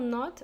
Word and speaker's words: knot: to tie the knot we spell knot with a silent K yes there is a K there K and ot to tie the knot